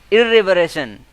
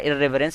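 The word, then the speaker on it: irreverence: इर्रेवरेशन, इर्रेवरेंस का मतलब होता है, सॉरी इर्रेवरेंस इसका प्रोनाउंसिएशन होता है इर्रेवरेंस, इसका मतलब होता है असम्मान करना, असम्मान करना।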